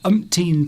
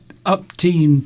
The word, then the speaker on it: umpteen: If you say upteen times, Upteen, even though- I can't pronounce my words today. Umpteen, but what's the word? I can't pronounce it. Go on. I don't know what's wrong with Steve. I've something wrong. I've been in the garden. I'm exhausted. Umpteen. That's it.